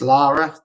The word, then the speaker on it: Lara: Love seeing Scats singing at Laura's birthday party. Really great. It's Lara, but don't worry, because my nan even gets her name wrong after 20 years, so that's fine.